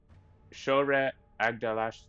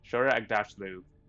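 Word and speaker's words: Shohreh Aghdashloo: I'm gonna horribly mispronounce her name. Shora Agdashlu. Shora Agdashlu would be reading this.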